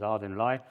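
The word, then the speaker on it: Ardingly: One in Southampton, one across here at a place called Ardinley, I'm told how to pronounce it. It could be Ardinley to me, but it's Ardinley.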